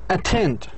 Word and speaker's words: attend: When the stress, where should you put the stress? We should put the stress or the accent on the strong syllable. Well, strong syllable في هذه الكلمة اللي هو المقطع الثاني. طب ليش المقطع الثاني? Why? For what reasons? Do you have a reason? Yes, I have a reason. Because the first syllable has a schwa.